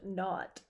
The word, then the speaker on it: naught: The 0 in the telephone number he pronounced naught.